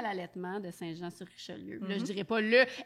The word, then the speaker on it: Saint-Jean-sur-Richelieu: C'est Saint-Jean-sur-Richelieu. Exact. Alors, on a avec nous, sur ce petit cours de comment prononcer le De nom de géographie.